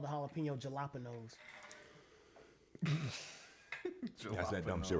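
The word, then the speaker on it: jalapeños: You pronounce every letter of the word exactly as it is. It's supposed to be pronounced as fucking jalapenos.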